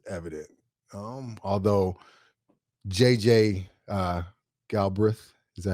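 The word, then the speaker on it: Galbreath: Um although JJ uh Galbreth, is that how you pronounce his last name?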